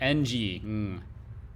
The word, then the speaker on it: Ng: very common last name like ng i mean that's how it's pronounced by the way you